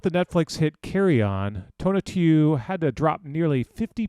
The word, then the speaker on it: Tonatiuh: Yes, my name is Tona Tu. Tona Tu. Yeah, the only mispronunciation that I'll accept is Tonatiuh because that's my hood name.